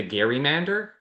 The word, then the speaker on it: gerrymander: And so people called it the Gary Mander. Um but we say gerrymander now because we're just mispronouncing his name.